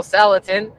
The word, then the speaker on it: Salatin: And for those of you who guess Joel and Daniel Salatin or rhymes with gelatin, you are correct.